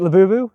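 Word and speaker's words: Labubu: So, right now we have the lab boou. Am I saying it right? You are. Is it labu?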